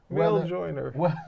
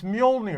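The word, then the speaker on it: Mjölnir: No, you're just mispronouncing it. You know. Male joiner. It's like me saying, instead of saying big business, I'm saying no. You have to say it, pronounce it correctly. It's Mjolnir.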